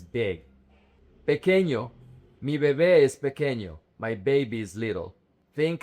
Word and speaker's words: pequeño: The word is pequeño. This syllable, the QUE, is que, not que. And it's not pequeño or picueño, it's pequeño. Grande.